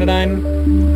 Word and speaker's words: Anodyne: anyways uh this has been AJ playing in a nine that's how you pronounce it and part two uh if you